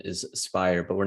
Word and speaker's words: SBYIR: spire actually is we heard it called uh cyber many many times uh the proper pronunciation is spire but we're not sticklers about that uh so